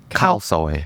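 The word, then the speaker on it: khao soi: Khao soy. Khao soy.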